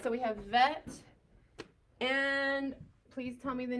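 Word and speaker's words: ב: So without the ball in its belly, there's a vacuum. So it's vet. With the ball in the belly, it's bet.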